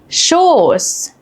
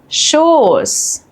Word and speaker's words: Schoß: While both are pronounced the same unvoiced S, they affect the vowel before them. A double S shortens the vowel and an SZ lengthens the vowel.